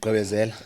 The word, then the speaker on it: gqibezela: Hey, how do you say it in Xhosa? Gqibezela. Igqibezela. I say Hey, gqibezela. hey. Oh, I can't say it. I sound white right You now. gqibezela. That's the one.